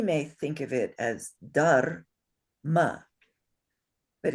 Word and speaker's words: dharma: There is no vowel in between the ra and the ma. It's dharma. So that's why that little mark is on top of the ma and not on top of the da.